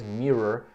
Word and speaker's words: mirror: Pronúncia de mirror é um pouquinho mais chatinha, né? Que é espelho em inglês, mirror, que tem esse som virado do R, né? Ra, re, ri, roar.